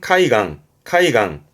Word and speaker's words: 海岸: 발음은 카이강.